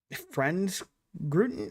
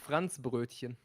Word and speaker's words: Franzbrötchen: Franz Gruten? What did you call it? Franzbrötchen. Bruton? Franz Bruton? Brötchen.